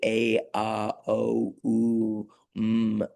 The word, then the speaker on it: Om: In yoga, of course, we use the word m, which is the sound of um of this sort of uh central primordial human sigh. And it's really so many syllables. It's really a a o m. You know, there are many sounds in that.